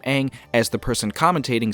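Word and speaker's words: Aang: which of course was the correct and right pronunciation of the name Ang as the person commentating says that the world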